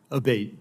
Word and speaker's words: Abate: We've heard it pronounced 3 different ways today in the hearing. Abate, Senator.